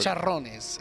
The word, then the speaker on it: Chicharrones: Chicharrones? I don't know if I pronounced that properly. Chicharrones is what you were. Chicharrones. Is that how you say it? Yes, sir. That was Okay. perfect.